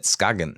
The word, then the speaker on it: Skagen: I mean, it's a cool Rungsten, Tungsten, Rungstedt, Skagen. You actually say Skagen. Pronounce it like right in Danish, Skagen.